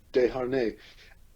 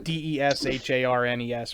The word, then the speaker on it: Desharnais: It's obviously it's a French name, spelled Desharnais. It's Desharnais, like Desharnes or something of that sort. Yeah, like Dehanais or something.